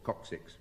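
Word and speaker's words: coccyx: I always mispronounce this, but it is called coxix.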